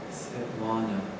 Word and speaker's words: Svetlana: But then I met Sviatek, and I found out that I was pronouncing it wrong. It's Svetlana, or Lana, or Lanska, or Sviatek, or Svietka, or Sviata.